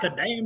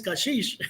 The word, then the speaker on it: Kashish: No, it's not Kadam, it's Kashish.